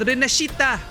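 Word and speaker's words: Rinascita: Renascita is actually pronounced Renascita. And Rochia, I think she said Rocha, which is literally rock, which is why her quest was about stones.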